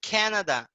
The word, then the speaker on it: Canada: Um Canadian, que ele é from Canada. Então, por que não fala Canadá em inglês? Porque é com a pronúncia do português. É Canada. Canadian.